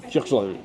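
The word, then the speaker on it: Kirkjubæjarklaustur: Puis quand il le prononce, ça ressemble à quelque chose comme Kirchland. Ouais, ça a l'air d'avoir juste 2 syllabes, ce mot-là, quand eux le disent, mais je pense qu'il y a 23 lettres dans le nom.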